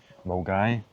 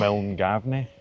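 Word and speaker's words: Milngavie: Well, at least round about the Glasgow area, like Mulgai. Looks like Milngavney.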